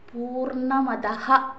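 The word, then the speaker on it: പൂർണമദഃ: ശുക്ല യജുർവേദിയ ശാന്തിപാഠം കണ്ടു പലരും ചൊല്ലുമ്പോൾ അതഹ എന്ന് ചൊല്ലാറില്ല പൂർണ്ണമതഹ വിസർഗം ഉച്ചരിക്കണം കേട്ടോ എന്റെ ഉച്ചാരണം ഒന്നും ശരിയല്ല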